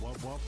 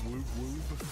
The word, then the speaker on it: wub wub: It's pronounced wub wub, not woob woob.